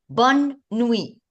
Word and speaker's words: bonne nuit: And we have to stress on the N. Why? Because we have it in double. So whenever you say two letters in double, you have to just stress on it. Not a lot, but just stressed on it so you can see the two ends.